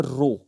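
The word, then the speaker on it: rho: यह सिंबल आपको दिख रहा है इस सिंबल से दिनो करती सिंबल को क्या पढ़ते हैं सिंबल का नाम है रो इसको प्रोनाउंस करते हैं रो है ना यह भी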